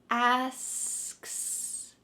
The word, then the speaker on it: asks: slow it down asks let's focus on just the last two letters k s can you say that with me and then we're going to add the beginning of this word asks asks when you separate it like that with just the ks at the end it kind of helps to more accurately say this word without feeling too weird about it let's put it